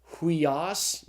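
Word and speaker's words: υἱός: And so the Greek word is pronounced huios. Notice that's the rough breathing over the iota.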